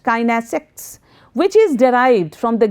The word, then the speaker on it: kinesics: The study of body language is also known as kinesics, pronounced kinesics, which is derived from the Greek word kinesis, meaning motion, meaning some kind of action.